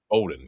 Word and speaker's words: Bowdoin: Your dad, baseball and hockey at Bowdoin. That's how you say it, right? Not Bowdoin. Yeah. Bowdoin.